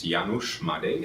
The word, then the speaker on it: Janusz Madej: writer of the movie stigma my name is janusz made and that's spelled j-a-n-u-s-z m-a-d-e-j okay wonderful um tell us